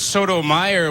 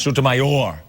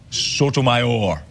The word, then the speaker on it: Sotomayor: Well, Craig, Judge Sotomayor was born... Whoa, Tim. It's actually pronounced Sotomayor. Sotomayor.